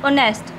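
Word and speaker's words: honest: ही इज़ not dash ऑनेस्ट, यहाँ पर लिखा तो एच है, कॉन्सोनेंट है लेकिन एच साइलेंट है, और ओ मीन्स ऑनेस्ट, ओ की साउंड आ रही है, एक वाउल की साउंड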